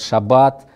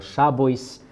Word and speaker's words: шаббат: ашкеназское произношение, сефардское произношение, говорят «шаббат», а на ашкеназском было «шабойс», ударение было на предпоследний слог 100 лет назад, сейчас ударение на последний слог, «ойс» заменили на «ад».